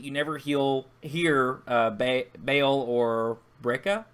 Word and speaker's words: Breha: never hear Bail or Breca, I think is how you say it. Breha? How do you say it? Hey, I think it's Breha. Breha. We'll go with that.